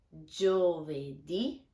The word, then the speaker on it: giovedì: Martedì, mercoledì, giovedì. Be careful with the sound of gio. It's a very G sound.